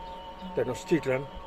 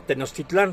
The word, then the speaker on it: Tenochtitlan: México ni México, México, Tenochtitlan, no Tenochtitlán, como dicen muchos pendejos, México, Tenochtitlan, dicen que no era un país.